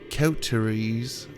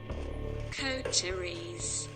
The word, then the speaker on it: Coteries: Tonight we're playing Vampire the Masquerade Coteries of New York. I know what you're thinking. Is he saying it right? Coteries.